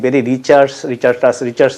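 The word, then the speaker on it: Barry Richards: কেন বেরি রিচার্ডসের কথা বলছি, বেরি রিচার্ডস হবে উচ্চারণটা।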